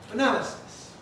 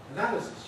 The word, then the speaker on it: analysis: So we have a noun, analysis. Analysis, you need to know that's how it's stressed. From the spelling, it might have been analysis or something, but it isn't. It's analysis.